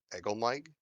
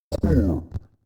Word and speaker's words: Corb: Did you say Egelmike? Corb. Man, giant speak is hard to hear when it's one syllable shit.